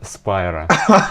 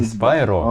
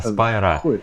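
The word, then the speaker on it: Spira: Этого человека зовут Руперт Спайра. Нихуя себе. Вот. Только, ну, Спайра. Не Спайро, как дракончик, а Спайра.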